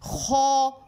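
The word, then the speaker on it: خ: ऊपर वाले हिस्से से खो खो खो ये प्रोनाउंस होता है।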